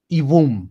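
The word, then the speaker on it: יבום: Ibum, sí, con una B pronunciada, como si fuera una doble B larga.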